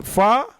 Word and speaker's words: فا: آپ اردو کے لب و لہجے میں فے، عین، لام بولیں گے تو اسے بہتر ہے عربی کے لہجے میں بولیے. اردو میں فے بولیں گے، عربی میں فا بولیں گے.